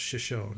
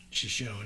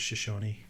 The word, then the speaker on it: Shoshone: the word's probably Shoshone because the town's pronounced Shoshone right she she's shown yeah and then the tribe of Shoshone Shoshone yeah okay perfect show band